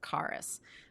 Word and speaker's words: Charis: I think the pr the official pronunciation it's it's a Greek word and it means is is carus but it's connected with